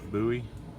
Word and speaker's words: Bowie: Anthony over at Honors Reviews sent me this little CRKT Minimalist Bowie. Now it's pronounced Bowie, not Bowie, okay?